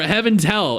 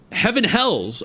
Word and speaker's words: Heaven Hells: Essential personnel for Heaven or Heaven's Hell. It's Heaven's, right? Heaven's Hell? Heaven Hells. Oh, I've been mispronouncing it all this time.